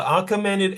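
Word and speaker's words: Achaemenid: Sorry, it it would be pronounced the arcommened empire.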